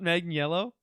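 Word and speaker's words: Manganiello: it and for her is it not megan yellow yeah yeah you may as well just spell it mang and then yellow yeah instead of this confusing a-n-i-e-l-l-o uh yeah uh amber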